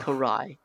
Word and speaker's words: Karai: hopefully I'm saying this name correct you are Karai thank you because I don't want to get butchered in the comments section after this like